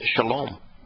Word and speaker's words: shalom: They actually know that how to pronounce the Hebrew word for reconciliation leading to peace as shalom.